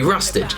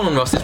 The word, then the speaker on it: Rustage: I'd much prefer to just be Rustage.